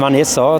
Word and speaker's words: Vanessa: Das heißt Vanessa, das kommt von Van und Essen.